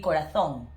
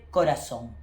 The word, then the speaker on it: corazón: Okay, also this famous word, in Spanish from Spain will be corazón. And in Spain, Latin America, we say corazón. So that is the main differences regarding pronunciation between the Spanish from Spain and the Spanish from Latin America. Remember, in Latin America, the sound of C and Z is the same as S.